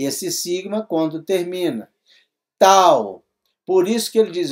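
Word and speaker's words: ταῦ: falei no no teta o teta é TH o tal é um t puro olha aqui vamos lá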